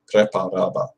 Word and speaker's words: Preparaba: Preparaba. Preparaba. That's another tricky one because it's similar to the English word prepare, but you can't pronounce it like that.